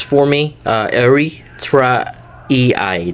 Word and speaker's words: erythraeae: to uh Santivia uh Eritra Ei. So uh it's kind of a hard to pronounce for me. Uh Ira ei. So that's uh what's what it's supposed to be pronounced and uh I guess